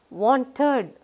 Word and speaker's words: wanted: Wanted, it sounds like want, id.